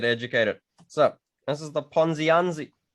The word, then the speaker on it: Ponziani: yeah to get educated so this is the ponzianzi how do i pronounce this ponziani yeah yeah i know it's like something for